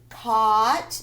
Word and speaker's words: caught: safe resemble trying to look like somebody else caught the gh is silent caught means you past tense of catch